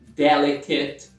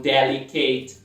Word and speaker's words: delicate: O que suaviza a pronúncia da próxima sílaba, em vez de date fica det. Candidate. Isso acontece com outras palavras como delicate e não delicate.